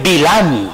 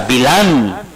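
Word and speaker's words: Bil'am: Ahora, Balaam, hermanos, que en hebreo es Bilam, así se pronuncia, Bilam, es falta del pueblo.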